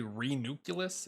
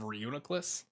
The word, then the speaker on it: Reuniclus: re reuniclus excuse me it's not one of the most difficult to pronounce pokemon for me i always want to say re-nucleus instead of reuniklis um but i used